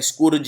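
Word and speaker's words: scourge: एंड I think this is the most important word, स्कर्ज। ये noun की तरह यूज होता है और इसका उच्चारण भी ठीक से करिए। कई लोग इसे बोलते हैं स्कूर्ज या स्कारौज, इसको बोलते हैं स्कर्ज।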